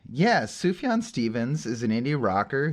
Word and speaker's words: Sufjan: I was gonna say the J is silent but it's really not silent it's a y um I do like that name yeah sufyan Stevens is an indie